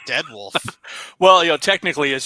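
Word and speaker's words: Dire Wolf: there she says technically that Mech you're talking about is pronounced dir wolf I pronounce it dead wolf well you know technically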